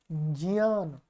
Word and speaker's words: ज्ञान: अंदर ये वर्ण है, इसलिए इसको उच्चारण क्या है, ज्ञान। नासिका का उच्चारण आपको जरूर करना है।